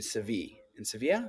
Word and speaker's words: Sevilla: And he was on a shoot in Seville. Sevilla. That's how you pronounce it in Spain.